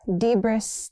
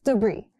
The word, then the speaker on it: debris: Not debris. Debris. It's debris.